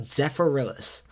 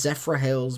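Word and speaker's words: Zephyrhills: because there's a water down down there called Zephorillis. And I know it's pronounced Zephra Hills, but I'm going to call it Zephrillis cuz it it it it if you call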